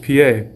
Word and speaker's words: pie: II just like Pi in English except it's pronounced PA and a cool thing is is that we